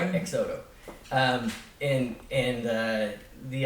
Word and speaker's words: XOTO: zoto sure um so so exodo started off as like a sorry I said it wrong exoto so the idea the name is get rid of your car leave your car at home X Auto you know exoto um and and uh